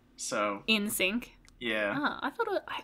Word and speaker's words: NSYNC: Tera not my heart I know it says N Sync but it's pronounced in sync so in sync yeah Oh I thought